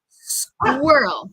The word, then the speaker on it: squirrel: No queremos decir squirrel, squirrel. Yo creo que muchas personas quieren decir como squir con ese doble R también, pero practica conmigo, vamos a practicar despacito.